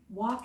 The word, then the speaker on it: walk: walk in the park walk is spelled walk21 our crazy English language because there's our L or letter of the week in the middle of that word but guess what we don't hear it we don't say walk